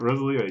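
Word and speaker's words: Rosalía: That's how you pronounce that, right? Rosalia.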